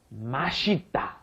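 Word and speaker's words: 맛있다: it is delicious but when it's pronounced very quickly it becomes mashita mas and not to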